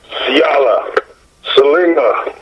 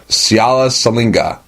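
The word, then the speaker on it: Siala Siliga: How do you pronounce your name? Siala Salinga. Siala Salinga. Yeah, Siala Salinga.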